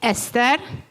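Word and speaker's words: Eszter: I'm Hungarian Ian and you see the SZ in my name in Esther SZ is pronounced in Hungarian as a and as a s so it's Esther but the S the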